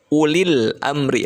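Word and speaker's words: أولي الأمر: Dibacanya jadi ulil amri, lamnya terbaca jelas.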